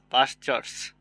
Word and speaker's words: pastures: तो पास्ट means हो गया प्राचीन काल, समझ रहे ना, भूतकाल, पास्ट, पास्टर्स, पास्टर्स, समझ रहे ना, PASTURES, पास्टर्स, यहाँ टी साइलेंट है, समझ रहे।